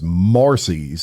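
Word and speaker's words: Marsy's: he wants to use what's known as Marcy's, and it's spelled Marsy', Marcy's law.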